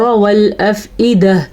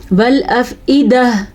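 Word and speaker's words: والأفئدة: والافئدہ, عیدہ کیا تو غلط ہو گیا, ایدہ حمزہ ہے تو حمزہ ہی پڑھنا ہے.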